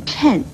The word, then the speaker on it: 谶: 预言，而谶字的国语注音呢是吃摁谶，四声谶，所以谶